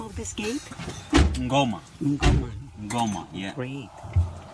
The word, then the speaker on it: Ngoma: How do you pronounce the name of this gate? Ngoma.